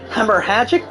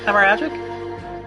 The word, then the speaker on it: hemorrhagic: to this document the victim suffered a hemorrhage hemorrhagic death is that how you pronounce it hemorrhagic hemorrhagic okay due to gunshot trauma learn